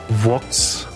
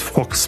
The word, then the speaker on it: Vox: Und er war genau die Person, die mich ausgelacht hat, als ich Vox, also den Sender Vox, immer als Fox bezeichnet habe. Weil ich das in dem Fall falsch ausgesprochen habe.